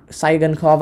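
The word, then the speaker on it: Tsygankov: remember the guy's name it's like t-s-y g-a-n k-o-v it's like saigon saigenkov i can't remember his name it's a silent t they got some decent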